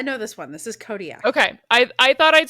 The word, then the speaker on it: Kodiak: How do you say K O D I A K?